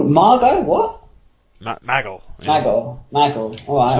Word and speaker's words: Michael: Maggle. Yeah. Maggle. Alright. That's the way JBL pronounces Michael, Maggle.